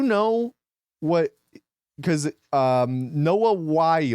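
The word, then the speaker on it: Wyle: Because um Noah Wy, right? Is that how it's pronounced? Wy. Oh, so it's like the coyote.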